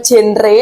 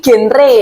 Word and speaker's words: GenRe: Dan oh ya, fun fact-nya bahasa genre itu bukan genre tapi genre, karena singkatan dari generasi berencana gitu. Jadi bacanya bukan genre ya guys, genre.